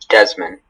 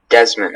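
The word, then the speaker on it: desman: This can only be pronounced Desmond. Okay, Desmond, am I pronouncing it correctly? Yes, Desmond. Okay.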